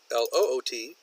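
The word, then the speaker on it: lute: have a homonym here he didn't say loot l oot like you would find in a pirate's chest but the loot l ute which loot is actually a musical instrument from medieval times so I sent him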